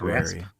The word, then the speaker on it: raspberry: Yeah, and nobody's pronouncing the P No, it's rasp. raspberry.